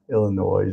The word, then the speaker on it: Illinois: Illinois rhymes with boys.